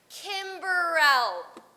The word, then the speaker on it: Kimberly: okay okay it's pronounced Kim Burrell no II the e is silent no he is silent